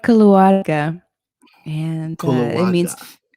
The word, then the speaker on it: Keluarga: It's called Keluarga, and it Kulawaga. means keluarga, yeah, with like a rolled R, I guess, if you can.